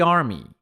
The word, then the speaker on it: army: Army quer dizer exército. Army, tá? Tem esse I no final, army. Army. Army. Cuidado para não confundir com arm.